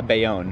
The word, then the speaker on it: Bayonne: diners of hoboken or bayonne how do you pronounce that uh bayonne they own new jersey it's kind of been